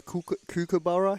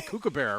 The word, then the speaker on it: kookaburra: The kookaburra? How do you say it? Well, I think we say kookaburra, right? Yeah. But it's kookaburra? Kookaburra. Kookaburra. I'm working on my Australian, getting right?